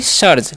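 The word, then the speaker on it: serge: next word हमारा है एस ई आर जी ई तो इस पढ़ते हैं सर्ज क्या पढ़ेंगे जी सर्ज ठीक है और सर्ज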